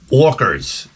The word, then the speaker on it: orca: can believe the orkers I orkers that's how you say it here in Long Island you didn't know